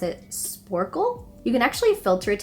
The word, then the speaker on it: Sporcle: and the other one I'm pretty sure you pronounce it sporcle you can actually filter it to be pretty